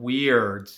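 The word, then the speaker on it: wird: those prayer books are called weird not weird as in w-e-i-r-d it's spelled w-i-r-d so this prayer is called the prayer for light and it's in the levy weird of which i have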